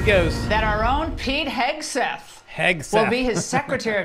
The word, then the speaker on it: Hegseth: That our own Pete Hegseth.